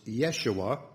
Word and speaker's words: Jeshua: Now later this name assumed the form Jeshua, which is sometimes pronounced Yeshua, from which came the Greek form Jesus.